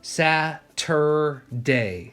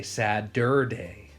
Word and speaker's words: Saturday: letters all right mm-hmm so sad Satur day Saturday but we get pretty lazy we say Sad dur day well it's definitely not we don't spell it as Saturday do we so sap capital